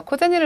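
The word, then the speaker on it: 小銭: 자, 여기에서 작을 소자 원래 음으로 읽을 때는 시오 이런 식으로 읽어주지만 훈으로 코라고 하는 음이 있고요. 그리고 뒤에 나와 있는 금전을 나타낼 때 이 전자는 생이라고 하는 음이 있지만 여기에서는 훈으로 제니라고 읽어주세요.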